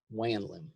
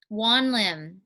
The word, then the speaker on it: Wanlim: Wanlim. Wanlim. Wanlim.